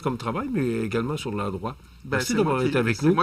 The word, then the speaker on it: L'A-Droit: Donc, l'endroit, là, je vous le dis, ça s'écrit L''A', trait d'union, droit, D-R-O-I-T.